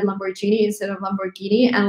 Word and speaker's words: Lamborghini: Lamborghini, that's what I used to say, but now I'm saying Lamborghini.